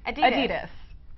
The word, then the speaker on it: Adidas: Adidas.